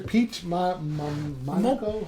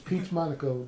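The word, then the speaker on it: Peach Momoko: it's a new series Peach M mono excuse the name pronunciation of it it's Peach Monaco the ah okay the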